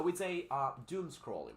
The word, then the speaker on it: doom scrolling: The pronunciation of this, you know, two vowels combined or put together is basically U. Ooh. The pronunciation is U. So we say doom scrolling, right?